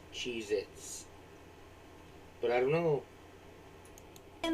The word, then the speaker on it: Cheez-It: swear moving on at number nine we have cheez-its but apparently that tasty cheese cracker is not called cheez-its it's cheez-it either i've been saying it wrong